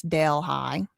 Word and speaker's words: Delhi: Okay, it's it's spelled like this. Dale High.